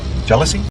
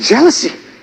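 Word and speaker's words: jalousie: a lot like this jealousy no it's called jealousy sounds like jealousy to me sounds a little like jealousy is it jealousy was it jealousy it is it's jealousy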